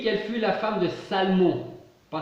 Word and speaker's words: Salmon: Matthieu, par exemple, nous dit qu'elle fut la femme de Salmon, pas Salomon, hein, je ne prononce pas mal, Salmon, un prince de la tribu de Juda.